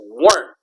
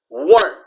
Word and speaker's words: weren't: it's aren't it's not wet it is weren't okay pronounce it like this okay remember that e is silent okay this you weren't you weren't you weren't weren't warned work okay not